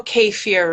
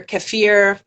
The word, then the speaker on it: kefir: you know you know k fear right or kefir people pronounce it different ways k-e-f-i-r yeah so i